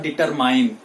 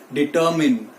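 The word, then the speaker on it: determine: में vitamin vitamin और डिटरमाइंड क्या है डिटरमिन डिटरमाइंड नहीं है उसको याद रखिएगा डिटरमाइंड टो मुझे बहुत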